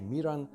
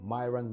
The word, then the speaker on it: Miran: and you know that my name is actually Miran but whenever I speak with somebody who is not from Slovenia you know I always the problems how to pronounce my name Myron Myron or whatever and I just didn't